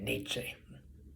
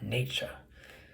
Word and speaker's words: Nietzsche: That was the case with Schopenhauer, Nietzsche, and I even say Nietzsche, not Nietzsche, in the German style of pronunciation.